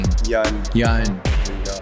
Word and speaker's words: Yang: Did I say it right? Never. Yang. You never say it right. Yang. Yun. Yeah, there you go.